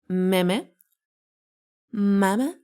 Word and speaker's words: meme: Me. Me. Me. No, it's meme. Meme.